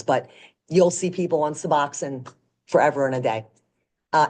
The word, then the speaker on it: Suboxone: um and then suboxin suboxin is the big one now looks like Suboxone but it's pronounced suboxin It's a combination of